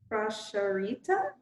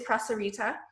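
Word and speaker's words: prasārita: habit I think yeah it is prasarita yeah I uh in my head I was thinking in that moment I'm like oh no it's a sh but no it's an S sound right I find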